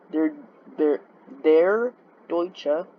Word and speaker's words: Der Deutsche: Joined the KDF ships Der Deutsche, that's how you pronounce it, Oceana, and Sierra Cordoba on a group cruise of the North Sea.